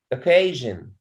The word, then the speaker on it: occasion: it occasion yeah occasion occasion so the stress and ke okay occasion yes thank you